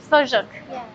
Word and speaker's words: sujuk: We call it sujuk. It's very How do you pronounce it again? Sujuk. Sojuk.